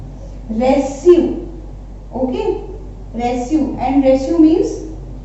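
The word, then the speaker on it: reçu: एंड सी you, last example इसका है रेस्यू, okay, रेस्यू, एंड रेस्यू means receipt, रेस्यू means होता है रिसिप्ट, ठीक है। तो अदरवाइज विदाउट एक्सेंट हम इसको प्रोनाउंस करेंगे रेक्यू, बट विद एक्सेंट रेस्यू, ठीक है।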